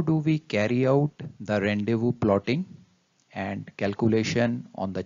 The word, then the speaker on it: rendezvous: of tongue twister and correctly pronounced as ron de vue moving further to its